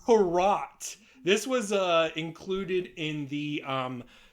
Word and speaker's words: Hrot: I don't know how to pronounce this. Hrot. It's Hrot.